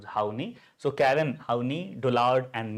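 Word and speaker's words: Horney: would like to mention don't pronounce this particular name as it is literally right because uh in India more specifically in English right uh that having a different meaning of it right so how we are pronouncing them. Whenever we pronounce then H O W N E Y this pronunciation we can use Hi.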